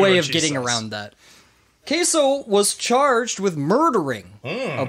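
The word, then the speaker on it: Caeso: okay so yeah so you could all honestly you could pronounce it say so if you wanted but say so i'm calling them queso you got it i'm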